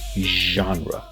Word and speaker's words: genre: You do have two choices, but by far the most common and the most accepted version of this word is with the ZH. Even though it's a G, we're going to pronounce it as genre, instead of genre. However, sometimes you will hear some native speakers saying genre. However, I suggest that you stick with the most common version, genre.